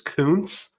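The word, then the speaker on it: Kuntz: and then Zach Coons that is how you pronounce it is Coons it is not the the dirty word tied in out of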